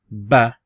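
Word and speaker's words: ب: because it looks like a boat it's actually pronounced as ba so that dot there remember that dot the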